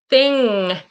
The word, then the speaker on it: thing: you'll see that my my tongue doesn't touch the top ing thing. Okay. Um, there's no G. There's a N, but there's not a G-g.